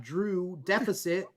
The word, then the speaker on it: Drew X Deficit: loud and pronounced, while the X in Drew Deficit is not. That is silent.